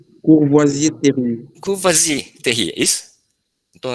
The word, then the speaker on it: Courvoisier-Terrier: Pronuncia aqui, sinal de? Courvoisier-Terrier. Como é? Courvoisier-Terrier.